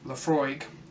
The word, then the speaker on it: Laphroaig: for that's about the lows I go it's pronounced Laphroaig it is an all mult Scotch whisky from